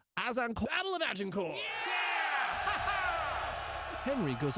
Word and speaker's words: Azincourt: It's uh actually pronounced Azincourt.